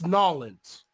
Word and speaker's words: New Orleans: It's Nolans. Oh, Nolans? It's Nolans. Y'all going down to Nolans?